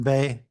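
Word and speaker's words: 背: or cardinal directions and back-to-back people pronounced bae meant that you were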